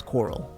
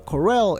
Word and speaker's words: Corel: area which it really it sounds wrong to me when they say it like that I used to always think it was Coral but the Corell area and you know I